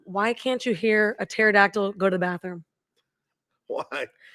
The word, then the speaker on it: pterodactyl: can't you hear a pterodactyl go to the bathroom why because the p is silent was that too bad start to some people are home going how do you spell pterodactyl that's what the P